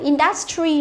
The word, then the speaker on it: industry: Từ này chúng ta thấy là cái từ này trọng âm của nó rơi âm tiết thứ nhất nhưng mà nhiều bạn cứ đọc là industry là sai, nhớ chưa? Industry là sai mà phải là industry.